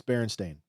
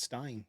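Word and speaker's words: Berenstain: it could be and it's Baron stain I believe a stain not Stein bar stain Ste barenstein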